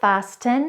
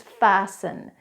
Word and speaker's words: fasten: so let's go back to those words it's not listen its listen it's not fasten and it's fasten.